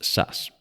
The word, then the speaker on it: SAS: its names is SAS in Swedish it's generally pronounced sus that initialism stands for